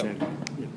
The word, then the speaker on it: San Juan: that's in this specific place in is it San Juan? Yeah. How do I pronounce that? Same one, the farm. San Juan. Yeah. San Juan.